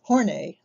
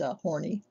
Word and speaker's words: Horney: We'll look at four of the most renowned: Carl Jung, shown pictured on Time magazine; Karen Horney, no, it's not pronounced horny.